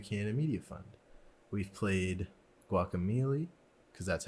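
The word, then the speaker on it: Guacamelee: support of the Canada media fund we've played guac Amelie because that's how you pronounce it at last the long dark river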